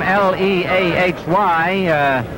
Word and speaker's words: Leahy: Although he spells his name L-E-A-H-Y, Mick pronounces it and prefers it to be pronounced as Leahy.